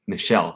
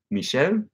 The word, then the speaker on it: Michel: it's more like Michel it's pronounced like Michelle oh that's interesting oh is that is that a French name Michel Michel Thomas I'm gonna